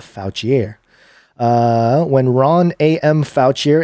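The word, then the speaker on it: Fouchier: I mean it's it's spelled fo uch I er so not foutch e a foul chiere when Ron am foul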